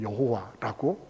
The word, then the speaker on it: 여호와: 그 4개의 단어를 히브리어는 원래 모음이 없으니까 모음을 갖다 붙였어요. 그래서 야훼라고 발음을 하거나 혹은 여호와라고 발음을 하게 됐어요.